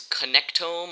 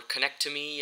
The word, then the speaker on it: Connectome: uh yeah that's it my name is connectome or connect to me as some people might pronounce it and that's my